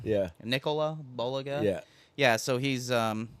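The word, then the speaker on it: Bulega: know how to say his last name boliga boliga yeah Nicola boliga yeah yeah so he's um you know up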